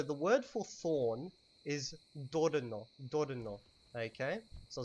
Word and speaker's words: dorno: So the word for thorn is dorno. Dorno. Okay, so it's spelled D-O-R-N-O.